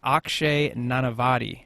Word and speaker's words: Akshay Nanavati: It's from Elite Man Magazine, and my guest today is Akshay Nanavati.